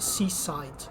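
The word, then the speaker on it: CSIDH: graph to my right seaside yes these things has to be pronounced seaside the family of schemes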